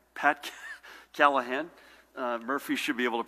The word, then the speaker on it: Callahan: Edie Lipschitz Judy and Ed as always to my far left State Police Superintendent Colonel Pat Callaghan Pat Callahan Murphy should be able to pronounce Callahan again needs no introduction and a real treat